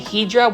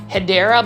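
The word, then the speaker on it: Hedera: for the longest time I was mispronouncing a plant ID name where it was um me saying Hedra when it was actually Hideera, but that's kind of stuck around with it.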